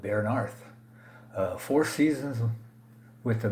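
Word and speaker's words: Bearnarth: rbi larry bernice bernarth don't show know how to pronounce that uh it looks like a b-e-a-r-n-a-r-t-8 so i'm gonna go with baron arth uh four seasons with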